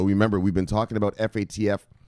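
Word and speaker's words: FATF: we've been talking about F ATF they pronounce it fat F the financial action time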